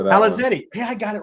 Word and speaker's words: Palazeti: How do you say your last name? Please last name Palazetti. Good luck with that. Palazetti.